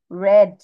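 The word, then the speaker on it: read: তাই বির বানানও তাই শুধু উচ্চারণ চেঞ্জ হয়ে যায় যেমন এখানে মিস দেখো কি উচ্চারণ করেছিলামশি রেড আর ই এডি রেড রেড অর্থ করেছিল ছিল আর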